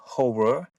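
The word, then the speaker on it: Ho99o9: yeah, and for me, I think it's the band called Horror. Yeah, they released an album, United States of Horror. Okay. I can spell it's Ho9909, and we listened the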